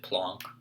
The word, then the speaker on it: Planck: is known as the planck einstein constant sometimes you hear people pronounce it plonk which is probably more appropriate but i'm just not